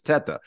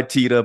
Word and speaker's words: Teta: Italian background the correct pronunciation is Teta obviously Italian the problem is that means tit in Spanish and so I think we pronounce it TAA because I think my grandparents they came over they understood that when they came to America and they were like maybe we need to change the pronunciation so we go by Tia but I also answered